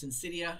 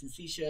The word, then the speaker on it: syncytia: Another example of a CPE, a common one, is called syncytia. Sometimes I'm never quite sure how to pronounce some of these. Syncytia, I've heard it pronounced both ways. Syncytia, syncytia.